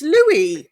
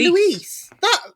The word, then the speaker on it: Louis: And in the Japanese dub, it's Louis, and then they decided it's Luis. Yeah, I kept saying, me. I'm Louis, and then the director was like, no, it's Luis, and but it's spelt Louis.